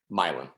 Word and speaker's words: Milan: Also, my wife's from Milan, Kansas. Milan. Not Milan.